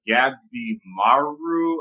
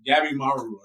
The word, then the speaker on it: Gabimaru: Gabimaru. I think that's how you say his name. It's a mouthful. Complete mouthful. Gabimaru. Gabimaru.